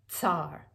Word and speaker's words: tsar: so you have and the only word i could think of that really starts with that sound in english anyhow is the word tsar if you pronounce it that way tsar or if it appears